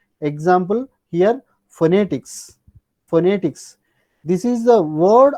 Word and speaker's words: phonetics: given one stress mark that means compared to or among these three syllables you have to stress on second syllable initially stress mark that means phonetics you say phonetics not phonetics no that means phonetics